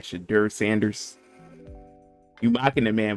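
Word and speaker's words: Shedeur: Shadur Sanders.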